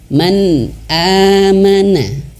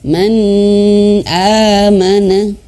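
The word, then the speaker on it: مَنْ آمَنَ: Man amana. Ya, maksud jelas itu adalah tidak dibaca dengung. Kalau dengung itu seperti ini. Man amana. Man amana. Nah, itu salah.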